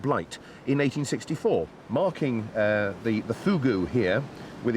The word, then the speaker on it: fogou: I know it's spelt F-O-G-O-U, but it's pronounced fogou.